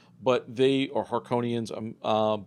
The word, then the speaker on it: Harkonnen: right, but they are Harkonians. But like they're Harkonnen, I think. Harkonnen. That's how they say it in Yeah. this movie. Although I've heard it pronounced differently, but they're kind of evil, very imperialistic.